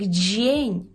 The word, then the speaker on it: dzień: рази вимова стане краща шостий секрет це є буквосполучення д з і е яке читається як Дж Дж Дже тут відбуваються такі впливи що там насправді всю кашу заварює нам буква і і впливає на дз і робить нам Дж а і сполучається з е і ви знаєте що воно читається як є Відповідно ми отримуємо звук Дж Дже Ну і наприклад в такому слові як джень дженьдо джень добри так Добрий ранок або Добрий